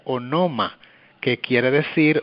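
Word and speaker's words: ὄνομα: griego la palabra nombre se escribe y se pronuncia o no ma qué quiere decir o significa persona así las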